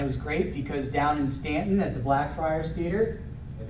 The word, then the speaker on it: Staunton: Stanton is amazing. Except when you pronounce it Staunton. Then When you pronounce it Staunton to the locals, they get a little mad at you.